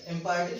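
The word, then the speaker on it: imperative: Next sentence है जिसके बारे में चर्चा करने जा रहे हैं, वो है इंपैरेटिव सेंटेंस। इंपैरेटिव सेंटेंस, इसको इंपीरेटिव नहीं बोला जाता है।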